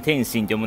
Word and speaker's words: 天津: 天丼の店に三重県の津の津って書いてね天津って読むんですけども